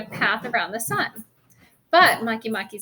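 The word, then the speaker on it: Makemake: author wrote right in parentheses there how to pronounce it for me. I'm Maki Maki.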